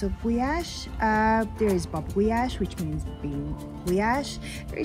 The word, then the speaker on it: Gulyás: So how do you say it the right way? Gulyás.